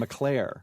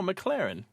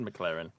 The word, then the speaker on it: McLaren: what did I say Oh I thought you said Malcolm mcir no McLaren okay I said McLaren that is correct I was a sex